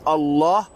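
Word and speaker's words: الله: Mais quand tu dis Allah, normalement tu dois être lourd dans le lemme. Billahi. Attention, la voyelle de Allah, il doit être long. D'accord? Après la shadda qu'il doit y avoir pour le lemme, c'est-à-dire passer un peu de temps parce qu'il y a deux lemmes, d'accord, dans Allah.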